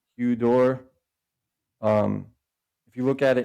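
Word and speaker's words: ὕδωρ: So this upsilon, when you accent it, you can ask anybody who speaks Greek, it becomes the hu. You'll see it like written like in the word. So we pronounce like hydro or hudor.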